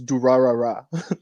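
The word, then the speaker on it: Durarara!!: This whole time I thought it was Durarara. Like, I always pronounce every ra super slowly. Durarara. I thought it was introduced to me, and I never considered it's Durarara. Durarara. That makes it sound so much better.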